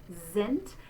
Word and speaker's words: sind: So we're going to say that beginning letter S in the German word that's followed by the vowel sound, we're going to say it like a Z. Sind.